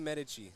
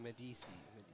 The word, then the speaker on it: Medici: she can come back and I guess we pronounced the name right. Oh, let's go. Eleni Medici. Let's go. Medici. Medici? Okay. Look at us. We're geniuses. Like the Italian fam, Eleni Medici.